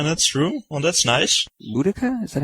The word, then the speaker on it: Boudica: Boudica? Is that how you pronounce her?